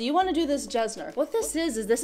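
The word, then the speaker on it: Jessner: you to reach for something like jesner you could pronounce it yesner after Dr yesner that actually created this peel but most people like to call this jesner sorry a little bit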